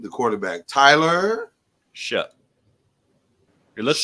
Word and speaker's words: Shough: It looks like Shuff, but it's Shuck.